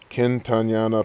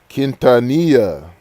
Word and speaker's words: Quintanilla: for last but yeah i really want selena kentanyana perez kenta wait quintanilla see i was thinking saying her name wrong because i was spelling it different in